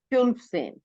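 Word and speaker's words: fünfzehn: फन सेन। फ्यून सेन, बिल्कुल सही।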